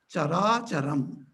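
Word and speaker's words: carācaram: If you combine the chara and achara, put together, conjointly, it is pronounced as chara charam.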